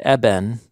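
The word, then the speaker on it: אבן: Rock is also, in Hebrew, the word eben, which is rhymes with the word sun.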